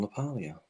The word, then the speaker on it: LaPaglia: napolio all right uh also people may pronounce it because they don't realize the g is silent it's actually silent it's it's spelled John lapaglia but that is John lapalia yeah okay there is